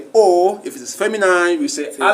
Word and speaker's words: os: when you are reading you don't pronounce the last consonant. So that is why we don't say os, we say o.